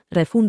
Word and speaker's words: refund: Joco de pronunciación, refund acentúa re.